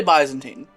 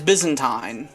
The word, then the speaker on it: Byzantine: Now I say Byzantine. And that's because that's the American pronunciation. The British pronunciation is Byzantine, in the same way that Constantine becomes Constantine.